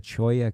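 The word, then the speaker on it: cholla: one type of Toya the Choya cactus again if you're typing it phonetically it's Chola c h o l l a it there's it so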